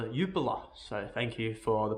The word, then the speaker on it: Jupiler: belgian first division or jupiler pro league as i was alerted to it is not pronounced jupiler rather yupola so thank you for